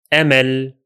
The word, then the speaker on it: أمل: And the second will be أمل. أمل. أمل. In both words, the Hamza sound is pronounced.